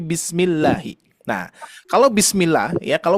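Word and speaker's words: بسم الله: Nah ya jangan sampai kita membaca Bismillahi bismillah jangan sampai bismillah ya tapi Bismillahi Nah kalau bismillah ya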